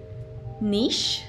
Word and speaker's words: niche: Esta en realidad tiene dos pronunciaciones. Podemos decir niche, niche, o niche, niche.